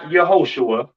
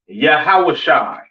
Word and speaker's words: Yahawashi: and so on now Christ's name in Hebrew is not Yahweh it's not yahushua all right it is yahawashi all right yahawah all